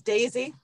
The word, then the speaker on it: Desy: It's Daisy, like the flower. Daisy. But you spell it D-E-S-Y.